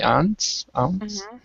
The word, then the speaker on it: aunt: pronunciation of ant twice the first one was the the aunt is british english and ant is american english so both of them are completely correct so so it's aunt